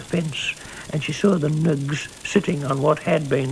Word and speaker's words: Ng: by the name of Nug. N-G, that's their name, Nug.